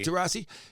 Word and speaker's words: Taurasi: Taurasi.